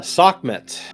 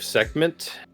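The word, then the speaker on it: Sekhmet: So, the the K is really like rough and hard. Seek. It almost has a little bit of like the the the flem in the back of the throat that you sometimes get in those Middle Eastern languages.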